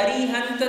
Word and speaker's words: अरिहंत: अरहंत की जगह अरिहंत तो हो सकता है, क्योंकि नमोकार के पहले पद में दोनों पाठ शुद्ध माने गए हैं। उन्हें आप अरहंत कहो या अरिहंत कहो, दोनों उच्चारण शुद्ध है।